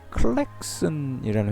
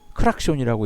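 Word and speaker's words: Klaxon: 보통 크락션이라고 부르는데 그 최초의 자동차의 혼 소리를내는 혼을 만든 회사의 이름 클랙슨이라는 회사였어요 근데 이게 일본에 오면서 일본 사람들이 이거를 클락션이라고 읽은 거예요 이제 대부분의 사람이 이걸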